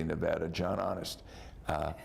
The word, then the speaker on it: Nevada: 30 years now but I know how to pronounce the name of the state it's Nevada how come you haven't learned how to pronounce